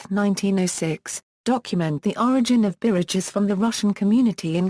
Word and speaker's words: Biritch: According to the Oxford English Dictionary, bridge is the English pronunciation of a game called birich, which was also known as Russian whist.